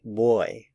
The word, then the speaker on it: voy: some Spanish speakers say boy boy boy it sounds a lot like the English word boy Bo y it's a